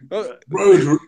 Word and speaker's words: Rhodri: Did I pronounce it right? Rhodri. Rhodri.